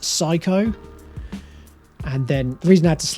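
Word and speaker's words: SIKO: So it's S-I-K-O, which I believe is pronounced psycho.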